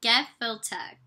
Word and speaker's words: gefilte: So the fish, the Gefilite fish, is ground fish such as pike, carp, or whitefish formed into a rounded patty wrapped with fish skin and simmered. Oh, okay, it gives a pronunciation. Gefilte.